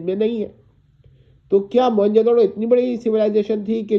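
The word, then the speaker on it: موئن جو دڑو: کا کرنا، اور درو اسے موہنجودڑو بول دیتے ہیں، یہ تلفظ تھوڑا ٹھیک نہیں ہے، موہنجودڑو ہے۔ تو موئن جو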